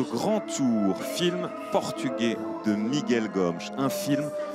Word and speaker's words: Miguel Gomes: avec ce cinéaste portugais on prononce Miguel gomch c'est le cinéast je